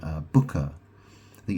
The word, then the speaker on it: Bucha: It's a place called uh, Booker. I think it's spelled B U C H A.